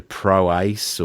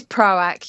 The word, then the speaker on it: ProAc: hoping that proac is how you pronounce it like cuz a lot of people turn it into proase or proarch proc. Yeah. But but it is it is it is proac.